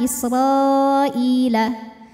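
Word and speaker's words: إسرائيل: Mad tabi'inya adalah alif didahului harokat fathah, kemudian hamzahnya itu i, sama-sama dalam kata Israila. Maka ra panjang, boleh 4 boleh 5 harokat. Israila.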